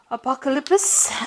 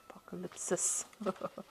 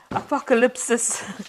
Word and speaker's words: Apocalypsis: the um some cards from the tarot apocalypse and um apocalypsis okay apocalypsis tarot um and let's see what's going on I have Mis been mispronouncing that word the whole day today okay let's see at